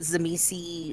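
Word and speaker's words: Tzimisce: oil and water uh is it zish I've I've always heard it pronounce zish some people pronounce it zami some people uh pronounce the sea as a hard sea it's they it's I think it's a regional thing surprisingly no excuse you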